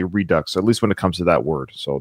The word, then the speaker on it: Redux: as a French person I do pronounce the X in Redux so I was pronouncing it wrong it is Redux Robin thank you so